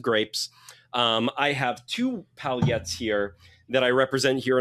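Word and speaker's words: palhete: So um pal and then an H in Portuguese is always a Y sound. So and then you it's not a palette. It's just you just pronounce it palette.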